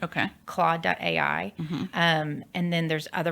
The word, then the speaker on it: Claude: I've heard a lot about how do you spell that c l a u d e okay claw.